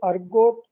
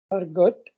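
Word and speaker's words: ergot: Claviceps purpurea, इसको एक common नाम द अर्गोट ऑफ राय, ठीक है। द अर्गट, अर्गोट या अर्गट जो भी प्रोनाउंसिएशन करते हो आप, दैट इज ओके।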